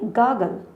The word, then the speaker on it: gargle: गार्गल कैसे pronounce करेंगे? गागल. गागल कहते हैं गरारे करने को.